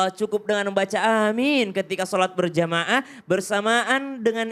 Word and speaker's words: Amin: Amin. Ya biasa emang seperti itu. A-nya panjang, min-nya juga panjang. Ada juga amin.